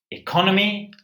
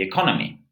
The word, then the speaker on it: economy: So in the newspaper headline, we have stimulus package to kickstart the economy. So let's look at these 2 words. Economy, economy. It's the same sound as effect, erase, eternity, enable, evade.